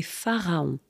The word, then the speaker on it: pharaon: ce sont des archéologues et on dit des pharaons par exemple tout en Camon c'était